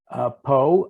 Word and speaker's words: Pau: of the Pyrenees in a little town called Pau. I believe it's spelled P-A-U, and I thoroughly appreciated the fact that this was available to me.